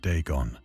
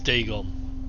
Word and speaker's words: Dagon: ancient Philistine legend of Dagon, the fish god. Ah, so it is Dagon, not Dagon. I've been saying it wrong the whole fucking time.